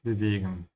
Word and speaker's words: bewegen: Dass wir das Schiff bewegen. That we are moving, bewegen. They are ship. Make sure you pronounce the W like a V, yeah? Bewegen and stretch the E a little bit.